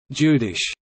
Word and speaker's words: jüdisch: The German word Jude is pronounced Judi, the corresponding adjective Judish, Jyd, Jewish, is the origin of the word Yiddish.